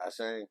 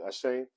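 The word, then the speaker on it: Achane: Ashane. Thank you, Ashane.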